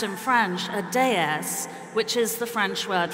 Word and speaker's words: DS: And he described it as a goddess because the initials D and S, pronounced in French a déesse, which is the French word for goddess.